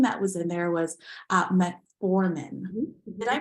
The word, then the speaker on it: metformin: And one thing that was in there was metformin. Did I pronounce that correctly?